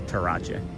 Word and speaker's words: Terrace: It's actually pronounced terrace, but we call it the Tarach.